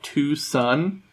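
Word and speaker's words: Twoson: game which is not it's not spelled like Tucson Arizona it's spelled like Tucson like two son TW o s o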